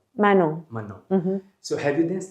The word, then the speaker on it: Manon: Have you danced, how do you say, Manon or Manon? Manon.